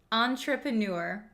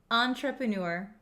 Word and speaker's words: entrepreneur: do you pronounce this word this word is pronounced entrepreneur Entre prur entrepreneur so an entrepreneur is someone who is starting